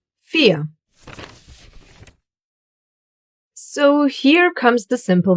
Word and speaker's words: vier: Yes, the Germans will most of the time pronounce this letter like you would pronounce the English F.